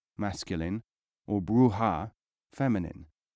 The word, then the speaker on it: bruja: Such people would be most accurately described in Arabic and in medieval Spain as brujo, masculine, or bruja, feminine, pronounced at the time brucho, brucha.